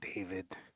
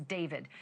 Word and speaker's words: D4VD: Literally for the singer known professionally as David, spelled D4 VD. I know it's strange, but it's pronounced David.